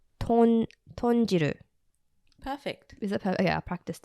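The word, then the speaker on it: 豚汁: bit tricky to actually say, but it's called tonjiru. Perfect. Is it perfect? Yeah, I practiced it. Yeah. The writer was like full breaking it down, like tonjiru or tonjiru.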